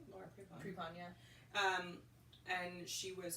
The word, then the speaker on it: Laura Prepon: Well, I just remember when the movie came out with Laura Prepon. Do I say her name right? Laura Prepon.